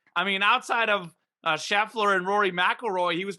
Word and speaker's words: Scheffler: sure that i i i said shuffly and not scheffler yeah it was a mispronunciation thing that's what it was